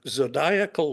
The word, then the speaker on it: zodiacal: a little bit uh zodiacal light and I'm I have been assured that is how you pronounce it it's like maniacal so uh phases of